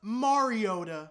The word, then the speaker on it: Mariota: It's actually pronounced Mariota.